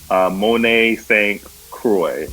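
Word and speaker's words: Monet St. Croix: I chose for my number one pick again X-Men Generation X, Miss M, Monet Stroy.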